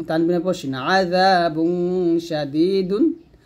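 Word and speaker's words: شَدِيد: তানবিনের পর শিন আযাবুন শাদীদুন। এখানে ওয়াকফের অবস্থায় কলকলার হরফ দাল আসছে, তো এখানে যদি থামি আমরা কলকলা করব এরকম ইন্নাল্লাযীনা কাফারু বিআয়াতিল্লাহি লাহুম আযাবুন শাদীদ।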